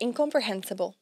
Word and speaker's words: incomprehensible: meio gigante né incomprehensible e aqui a gente tem o h no meio disso tudo e esse H aqui ele é pronunciado tá ele faz rible incomprehensible incomprehensible o h aten som de o rato roel a roupa do rei de Roma em inglês tá bom incomprehensible E quando você